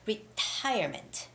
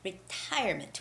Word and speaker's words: retirement: often on this test it's retirement retirement with the second syllable stress and the word ceremony